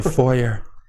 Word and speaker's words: foyer: Whenever you walk in the foyer. Foyer.